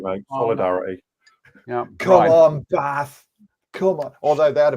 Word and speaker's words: Bath: That doesn't say Bath, that says Bath. If it was Bath, it would have an R in it. It's spelled Bath, but it's pronounced Bath.